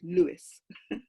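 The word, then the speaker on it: Lewes: It's English pronunciation, it's Lewis.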